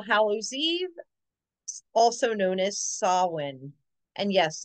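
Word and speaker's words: Samhain: have Halloween All Hallows Eve also known as sawin and yes it's spelled Sam ha but it is pronounced sa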